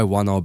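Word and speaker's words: whānau: In most Maori dialects, it's pronounced rather like the English F sound, which is why wanao begins with an F-like sound.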